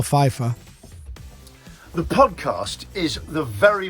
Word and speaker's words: Pfeiffer: in there i am unless it's a silent p like michelle pfeiffer the podcast is the